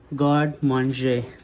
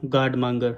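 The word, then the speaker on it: garde manger: for me cuz first I didn't know how to pronounce it I was pronouncing it as a god manga right but it's a god M it's a French word so God man is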